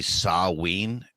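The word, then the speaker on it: Samhain: and rolling it's uh Sam Hayne these days I hear we're getting close um speaking of Sam Hayne uh so the like proper pronunciation that is actually saween and I swear to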